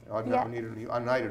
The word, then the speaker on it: Oneida: Yeah, Oneida, New York. Holly Lynch from Launch Models and Okay. Talent. I've been through there, that area. Oneida, New York. Yeah. That's how you pronounce it.